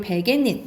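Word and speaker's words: 베갯잇: 그리고 베개닌 이건 니은 소리가 나죠.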